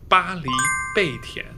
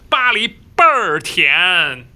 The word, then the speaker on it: 巴黎贝甜: The official Chinese name is 巴黎贝甜. That sounds very bourgeoisie, right? But if you ask Beijing people said, how do you pronounce the Paris baguette in Chinese? They will tell you 巴黎倍儿甜.